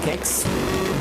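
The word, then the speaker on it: Qix: of it maybe maybe I always called it Quicks some people call it kicks Tito's Quicks is spelled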